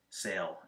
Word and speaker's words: sale: example uh the word Sale s a l e you have a consonant e so the first vowel is a long a sound and the second vowel is quiet the saying for this